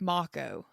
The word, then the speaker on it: Mako: It's Yeah, it's spelled like Mo, but it's Moco.